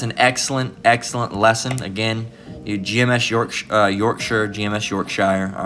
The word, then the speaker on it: Yorkshire: It's from the brother down in GMS Yorkshire, or Yorkshire, all right, is how it's technically pronounced, all right, over in England. All right, so Yorkshire, but everybody in America would pronounce that as Yorkshire, all right?